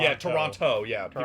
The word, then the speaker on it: Toronto: Oh, if you pronounce the second T, it's a dead giveaway that you aren't from here. Toronto. Yeah, Toronto. Yeah, people say Toronto, Toronto, but yeah.